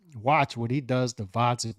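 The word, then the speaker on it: Gvozdyk: what he does to Vodzik with a silent G. He's really gonna get his hands on Vodzik with a silent G and do a number on him and make a statement at 175.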